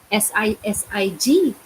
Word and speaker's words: sisig: well, that's the way it's spelled, isn't it? SIG. SISIG.